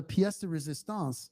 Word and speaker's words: pièce de résistance: Rahul, tell us about the pièce de résistance, which I just pronounced correctly for you Nice.